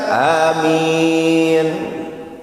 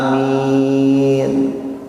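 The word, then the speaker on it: آمين: Sebelum saya sampaikan, apa sih artinya amin? Ingat ya, alifnya panjang mim minnya dua harakat karena ada ya sukun. Amin. Awas jangan salah bacanya. Kalau Anda pendekkan alifnya amin, itu artinya orang yang jujur.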